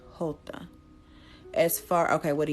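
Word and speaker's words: jota: your question if anything the hota is basically how you say it it's the description of hey Target is is how you say the letter J in Spanish so literally what this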